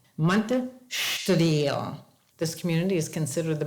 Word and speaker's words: Monte Estoril: Now you look at that and I look at that and it's pronounced Monte Estoril, right? Wrong. Monte Estoril.